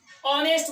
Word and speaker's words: honest: इसलिए नहीं लगा सकते हैं कि ये भले लिखा हुआ है एच से, बट इसका जो प्रोनाउंसिएशन है, जो उच्चारण हो रहा है वो हो रहा है वोकल साउंड से। जैसे ऑनेस्ट, ऑनेस्ट बोला यानी कि वोकल कॉर्ड, यानी इसमें लगेगा एन।